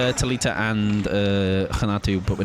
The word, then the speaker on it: Renato: If I was to just read it as I normally would, obviously, like, my initial thing, of course, go phonetically right, so I'm like, Renato, but obviously, it is not that.